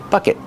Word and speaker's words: bucket: Bucket. Use a stop t at the end, not bucket.